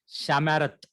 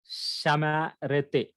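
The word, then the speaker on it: שָׁמַרְתְּ: I will not say Shamarete. No, Shamarat, because the rule set by the Masoret to preserve the original pronunciation of the scripture is that back to back at the end, both Shivas are silent.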